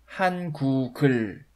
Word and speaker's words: 한국을: You know, 한국을 is actually pronounced 한국을, 한국을, 한국을.